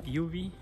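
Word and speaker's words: Yuvi: Okay, what's your name and Uh Yubi. How do you spell that? Y U V I. Okay. So, easy to remember is ultraviolet. Yubi. Yubi light.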